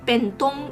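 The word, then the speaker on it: 便當: box we call it ben dong in taiwanese which the pronunciation is very similar to japanese i actually looked it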